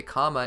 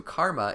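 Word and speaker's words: Kāma: so far number 38 there's some disparity over how to pronounce the technique the otsotsuki used to reincarnate in another individual this seal is known as a comma in the original japanese but translated to karma in english localizations by and large the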